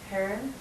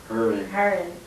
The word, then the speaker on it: Hering: Herron. Herring. Well, don't worry about it. Nobody pronounces it right anyway.